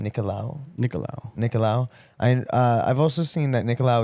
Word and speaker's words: Nicolau: I've also seen that he how do you pronounce his last name? Nicolau.